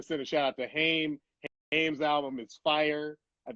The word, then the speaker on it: Haim: I believe that they pronounce it Haim. It is Haim.